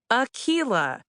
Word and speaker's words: Akilah: It's pronounced Akila Sida Hughes. It's Swahili Arabic and Irish respectively.